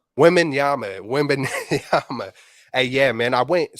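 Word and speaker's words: Wembanyama: Wabama or Oh, Webinyama? Wembenyama.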